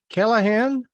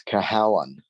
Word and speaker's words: Cahalane: Is it Callahan? It's Cahalane.